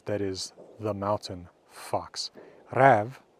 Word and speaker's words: räv: Räv, pronounced almost the same as the Old Norse root rev, means fox.